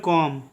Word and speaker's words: comb: ठीक है, इसका उच्चारण करेंगे कॉम।